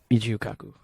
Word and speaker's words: Michio Kaku: Michio Kaku.